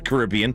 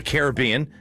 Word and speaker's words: Caribbean: It's cold weather so stars love to go down to the Caribbean or the Caribbean uh if you want to pronounce it like that.